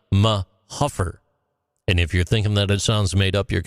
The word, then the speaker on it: Mahuffer: Locals pronounce it like Mahuffer.